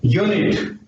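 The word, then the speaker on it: unit: लेकिन इसका प्रोनाउंसिएशन क्या है, यूनिट, यूनिट।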